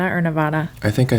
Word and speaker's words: Nevada: up so Nevada and then do you say Nevada or Nevada I think I say Nevada and yeah and